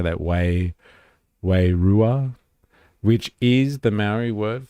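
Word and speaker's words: wairua: Way rua, which is the marry word for spirit.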